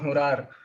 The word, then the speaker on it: hurar: this uh creature it's called uh the hurar uh this is how we pronounce it in bhojpuri the hurar is said